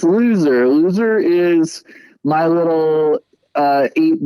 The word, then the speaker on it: Lo(u)ser: how you say it yeah yeah it's loser loser is my little uh eight bitty chiptune ska